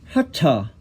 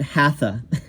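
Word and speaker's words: haṭha: I'm not saying I'm pronouncing it exactly correctly, but it's definitely not hatha, like hatha yoga, which you'll hear, and it's not even hatha yoga. It's more like hatha, hatha yoga.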